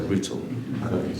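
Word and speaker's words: Rüütel: Rutel. I have this pronounced correct? Yes, good. It was very good. Oh, thank you. President of Estonia and Dr. Rutel, Your Majesty.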